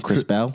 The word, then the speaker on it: Krispel: so much what's up bro and uh you butchered the name by the way what's the name chris bell yeah there you go it's okay it's just